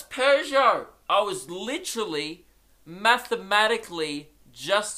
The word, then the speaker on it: Peugeot: or last week, that Peugeots are not pronounced Peugeots. So fuck everyone for saying, oh, it's pronounced Peugeot, dickhead, Pugot. You know what it's pronounced? You want to know? The correct pronunciation is Peugeot. Yeah, I was still wrong, but I got the Pew part right. Just didn't nail the Jo. Alright? I went got instead of Jo.